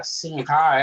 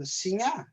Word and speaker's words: Sinha: I know in Portuguese the HA is pronounced with a nya. Yeah. Right? Yeah. So or you don't pronounce it.